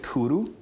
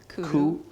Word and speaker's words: cwrw: So you pronounce it Cwrw. Cwrw. Cwrw.